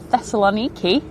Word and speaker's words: Thessaloniki: I've got an EasyJet to Thessaloniki.